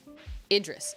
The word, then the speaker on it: Idris: minute wait a minute oh short i idris wait idris idris elba that's how you pronounce it oh my gosh i